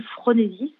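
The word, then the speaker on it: phronésis: les trouver sur internet alors mon cœur s'appelle fronésis c'est un concept d'Aristote ça s'écrit pH r o n e s y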